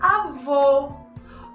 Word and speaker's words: avô: E na palavra avô, olha como o som fica mais fechado.